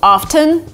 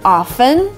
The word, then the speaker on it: often: now here's the thing you can say both often and often but if you want